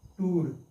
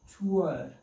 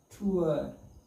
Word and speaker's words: tour: This is what most of students pronounce tour. Poor, cure, but it is wrong. How we have to pronounce it? Ua, tour, tour, T-O-U-R, ua, tour, poor, cure.